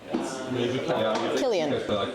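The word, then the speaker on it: Cillian: The reason it's Killian is we don't have the letter K in Irish. There's no letter K.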